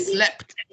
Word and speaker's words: slept: Why? Because the sound is a T sound, right? So it's just like mopped and slept, S-L-E, one E, yeah? So that is why it is spelled with a T in the past tense.